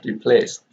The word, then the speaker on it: replaced: Here the s here becomes the cases, and here we have replaced with t, replaced, because the S here is voiceless, and therefore the ED here is pronounced as t, replaced.